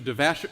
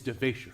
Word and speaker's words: DeVasher: I didn't want Mr. DeVasher. No, it's DeVasher.